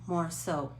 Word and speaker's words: Morisot: It's spelled, let's see, it looks like birth, Berthe, Morisot, Morisot, French.